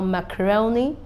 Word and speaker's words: macaroni: it's a diphthong now macaroni we have um the primary stress at row and we have the secondary stress at Mass so that's that with